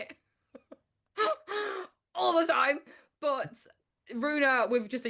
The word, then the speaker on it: Ruena: So I was like, well, Rue's a word, like Rue the day, and in France, no problem. Everybody in France can pronounce it first time because it means road.